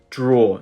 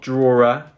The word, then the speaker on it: drawer: object in the draw remember this pronunciation draw not drawer drawer okay in the